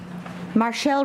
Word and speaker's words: Marchelle: Marchelle Robinson?